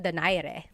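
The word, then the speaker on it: Donaire: So, our first poll here is going to be Mani Pacquiao versus Nonito Daire or is in in the Tagalog uh pronunciation. Nonito Dere.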